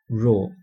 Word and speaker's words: rho: a Greek letter and we pronounce this we pronounce this um Greek letter we don't call it P we call it row as in r h o That's the usual